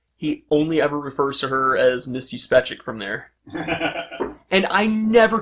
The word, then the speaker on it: Juspeczyk: Juspeczyk. Oh, that's how the motion comic pronounces it, which it sounds plausible. Yeah, it's spelled with a J, pronounced with a Y.